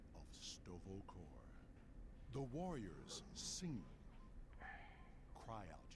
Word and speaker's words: Sto'Vo'Kor: say it correctly also the way he said stovakov all right look like he said stovokor instead of stovacore which is interesting ok you are a